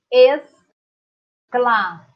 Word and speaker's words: exclamação: Exclamação. E para pronunciar, exclamação. Como se o X e o S fosse representado pela letra S.